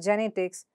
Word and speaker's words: genetics: is a suffix, and look at the syllable before the suffix, that is, in this case, in the case of genetics, net, and in the case of pediatrics, at. So how do you pronounce it? Genetics, genetics. And in second case, it's pediatrics, pediatrics.